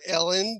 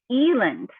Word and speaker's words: Elland: the Ellis Island thing that uh that it's pronounced Eland and spelled Ellen and how many teeth does that have it has only two T's so it's two L's and two T's yes and it's not Ellen it's what Eland Eland yes okay